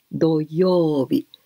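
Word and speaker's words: 土曜日: Doyobi. Si las personas muy avanzadas, podéis apuntar directamente en kanji. Si no, aunque fuese en hiragana. Yo, eso es alarga sonido. Doyobi. Pronunciación, yo, no es yo, ¿eh?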